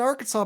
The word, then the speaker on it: Arkansas: I say this album is like a morgue in Arkansas because the S is silent, just like the scream